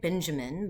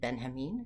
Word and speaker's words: Benjamin: And today we're going to be talking about Walter Benjamin. It looks like Benjamin, but he pronounced it Benjamin.